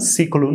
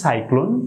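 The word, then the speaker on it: cyclone: এই ওয়ার্ডগুলির সঠিক উচ্চারণ হবে, আমি ভিডিও প্রথম দিকে বলেছিলাম সিরাকল সিরাকল বলেছিলাম, সিকলুন বলেছিলাম সিকলুন বলেছিলাম।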